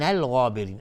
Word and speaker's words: الغابرین: لمن الغابرین، الغابرین الف لام قمری، غین از حروف استعلاء غلیظ تلفظ میشه و الف هم تابع غین غلیظ تلفظ میشه.